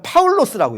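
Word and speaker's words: Παῦλος: 라는 뜻이에요 스터드가 볼게요 헬라어로 는 이건 뭐라고 왜냐하면 파울로 쓰라고 읽어요 4 파울로 스 의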